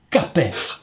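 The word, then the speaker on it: כפר: père la même racine c'est le mot cac perd on le prononce caper et caper signifie pardonner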